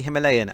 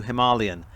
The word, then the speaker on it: Himalayan: i'm based in the uk and the british pronunciation is officially himalayan as opposed to himalayan and that's what i'll be sticking with for